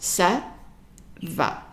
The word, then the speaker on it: ça va: So this is pronounced ça va. Ça va. And it follows the rules of pronunciation.